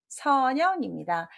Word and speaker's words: 선영: 답은 선영입니다. 이렇게 들어가면 형 발음을 많이 하죠. 영 발음이고요.